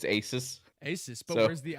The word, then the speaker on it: Asus: It's a Zeus. But it not has an Asus. S. It's a Right. Zeus. A Zeus.